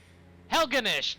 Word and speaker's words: Helgenish: gee that's uh not fantasy at all Master helenish helgenish yeah that's what it's pronounced yeah you were right whatever are you